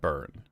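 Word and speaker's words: Byrne: The last name is pronounced exactly like the word burn. Rhymes with turn and fern.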